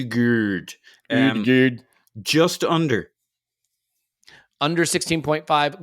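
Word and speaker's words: Ødegaard: stay with you martin odegurd goals plus assists over under five it's pronounced geared and just under under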